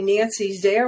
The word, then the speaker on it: Nancy: Very easy, because LinkedIn and Facebook, I go by Nancy Zare without any period or hyphen or you know, it's just Nancy Zare. Zare rhymes with care.